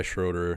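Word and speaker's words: Schröder: say his name correctly everybody says like Schroeder Schroeder it's h like Herby does it right it's h should be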